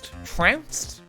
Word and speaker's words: trounced: pronounce that trunks is it like pounced trounced no ounce drowns i'm saying it right i'm saying it right people are making me doubt myself trounced english major he's an english major yes i am and actually chat if you look at this word correctly it rhymes with pounce and ounce it's okay you don't